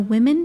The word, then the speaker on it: women: The women discussed the business plan while eating chicken. Women, business, and chicken all have that reduced E vowel sound that sounds like an I.